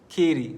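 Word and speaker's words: Katy: for specificity the property in Texas is in ki they call it Ki the spelling is k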